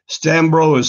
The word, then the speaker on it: Stanbrough: And my grandpa used to say, Stanbrough is spelled exactly like it sounds with an ugh on the end.